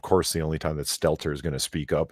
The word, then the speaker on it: Stelter: Stelter, yep.